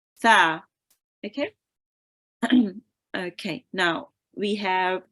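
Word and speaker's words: ث: Now, it is often replaced with sin, so make sure you don't read it as sa, you read it as tha. Okay, so sin here is pronounced sin, and this letter here is pronounced tha.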